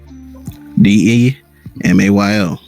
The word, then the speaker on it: DeMayo: How do you spell it? DEMAYO.